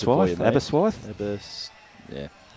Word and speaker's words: Aberystwyth: So you have to spell it out for us, Mike, so we can pronounce it for you, mate. Aberystwyth? Yeah. Aberystwyth.